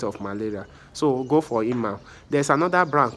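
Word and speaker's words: Emal: It's pronounced E-M-A-L, Imal.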